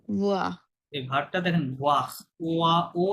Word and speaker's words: voir: Je vo- je vaux না না, নট ভো, voir. এই ভার্বটা দেখেন ওয়া, ওয়া, ও এবং ই সবসময় ওয়া সাউন্ড হবে, হ্যাঁ, ওয়া।